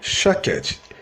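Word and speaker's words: שָׁקֵד: a pronúncia no hebraico a palavra Amendoeira se pronuncia shaked e a palavra velo que é o mesmo que vigiar se pronuncia shawkat se eu vou faz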